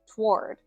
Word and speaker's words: toward: Another tricky word that a lot of people have questions about in English pronunciation is the word toward. Now, in American English, most people pronounce this as one syllable.